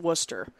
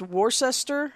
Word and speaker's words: Worcester: looks like it's pronounced Worchester that's how US people who don't know how to say things but wor s I'm sorry Worc e is actually one word worse so we don't pronounce the sester it's because I know